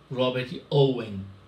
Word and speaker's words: Robert Owen: o galês Robert Owen, tem que pronunciar Robert Owen, e quem diga Robert Owen, elaboraram propostas para reformar o capitalismo e melhorar a vida dos trabalhadores.